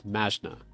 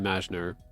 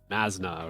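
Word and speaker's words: Mazchna: It's M-A-Z-C-H-A-N-A, but it's Mashna.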